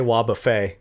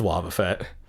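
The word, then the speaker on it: Wobbuffet: wudo pseudo wudo hmm some people say wa buffet because it looks like the way you this you spell buffet it's wobba fett oh i say houndour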